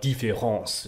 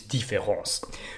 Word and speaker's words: différance: Instead, this is a talk about différence, which is a new term coined by Derrida himself, which ironically sounds exactly the same as the standard word difference, despite being spelled differently.